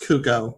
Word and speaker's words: Cuoco: I believe it's pronounced Cuoco. Cuoco for The Flight Attendant, and Tracy Ellis Ross for Blackish.